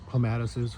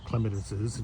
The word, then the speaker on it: clematises: Here is two clematises or clematises, depending on whose pronunciation you listen to, one on each side here.